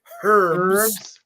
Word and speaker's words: herbs: When they say herbs, right? Exactly. There's a fucking H in it.